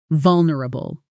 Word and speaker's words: vulnerable: This word has a tricky middle section where a lot of learners either add an extra syllable or lose the N. sound entirely. Let's break it apart carefully. V-U-L, nr, bull. Notice that middle part isn't nr, It compresses into a quick nr, almost swallowing the vowel completely.